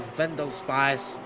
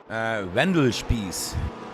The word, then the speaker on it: Wendell Spies: Trying to fight a Vendel Spice. Did I say it right? Vendel Spice? Wendell Spies. I think he's it's German, Wendell so Spies. you have to set the German accent.